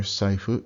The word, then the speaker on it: saifu: The F sound, when combined with a U, doesn't sound like a fu. It sounds more like a puff of air, more like a fu. Kind of put your lips close together and blow fu.